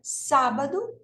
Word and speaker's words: sábado: última de penúltima e na palavra sábado a sílaba tônica não é nem a última nem a penúltima é a anti penúltima Ok sábado sado tá então a